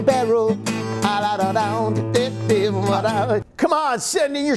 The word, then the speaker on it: Baierl: Oh, now that's how you spell barrel.